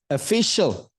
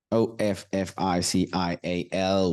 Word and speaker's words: official: word for the day official o f f i c i a l we think sometime this is official it is not official it's official look at the